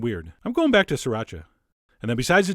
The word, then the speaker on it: sriracha: same amount of sriracha, which is how I've been told to pronounce it. 3 distinct syllables, sriracha. Although, you know what? That sounds kind of weird. I'm going back to sriracha.